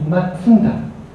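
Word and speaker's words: 松田: Mazda, exactly speaking, not Mazda, but its Japanese pronunciation is Matsuda.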